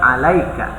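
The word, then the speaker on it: عليك: jadi alat dalam baju bacanya tidak jadi alasan tapi tetap Alayka ya Nah itu karena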